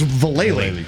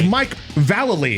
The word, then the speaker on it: Vallely: him Mike Vallely anymore you call him Mike Vallely because in the when we had magazines we've all thought it was valet lane it's Mike Vallely is actually how you say his name now he's doing interviews